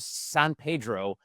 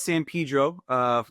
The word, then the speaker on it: San Pedro: Us locally here, actually, we all pronounce it incorrectly. So locally, we call it San Pedro. Even though as a Latino, I know that that's incorrect.